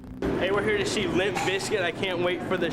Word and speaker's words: Bizkit: Originally, it was always pronounced Limp Bizkit, I believe, but originally the name was spelled B-I-Z-K-U-T, the biscuit was, but they changed it because they didn't want people pronouncing it Bizcut, I believe.